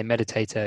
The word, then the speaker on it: meditator: word um meditator so usually when you say meditator you you the stress is at the beginning so meditator rather than and so you don't say meditator or meditator so just things there's